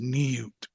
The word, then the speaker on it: Niut: Then you have, that's just the same version of the gardener's sign list, hieroglyph oath number 039, which is pronounced in the Egyptian anyway, it's pronounced Niut.